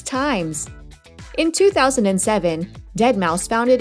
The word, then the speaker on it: deadmau5: His DJ name looks like deadmau5, but it's actually pronounced as deadmau5.